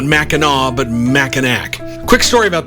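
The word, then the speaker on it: Mackinac: Kelly wrote to tell me that it's pronounced Meno, not Machinak, because it's named after Meno Island in Michigan, which he says is quote home to Amazing Fudge.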